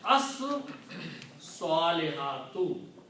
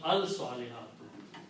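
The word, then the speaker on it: الصَّالِحَاتُ: Also, swad will kill the sound of lam and it will be pronounced twice. So we pronounce as salihatu. You will not pronounce al salihatu because swad is a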